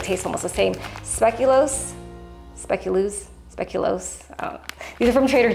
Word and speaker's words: speculoos: feel like they taste almost the same speculos speculoose speculos these are from Trader Joe's speculoose speculation they're spelled o o with the o-o so I don't I heard it pronounced speculos anyways you can use these cookies too okay